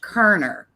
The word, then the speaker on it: Koerner: even though it does there's an extra o in there it's pronounced Koerner it is yeah this